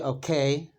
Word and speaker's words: OK: Argentina, at least, that we say oca in the same way we pronounce the letters o and ka. We also say okay, but it's very common to say oca.